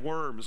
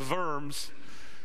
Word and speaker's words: Worms: worms I know verbs I know we pronounce it diet of worms okay and nothing about and nothing to do with eating worms in case you don't know the history of it okay it's the diat of verbs and i know that others could pronounce it better than I do he said the following